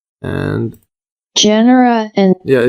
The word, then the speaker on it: genera: genre or jera let's see how this is pronounced and Genera and yeah Genera and 300,000 known species uh they are seed